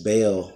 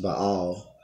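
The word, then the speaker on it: Baal: listen to me may have heard it as Bale worship but it's pronounced by all it means lower in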